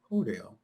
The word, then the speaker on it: Cordell: My big brother, George Cordell. Whoops, Cordell, I know that you have informed your siblings that when they pronounce your middle name, Cordell, they drop the R.